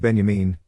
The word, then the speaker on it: Benjamin: What Benjamin, pronounced Benjamin, is telling us is that art, to be good Marxist propaganda, has to actually be good.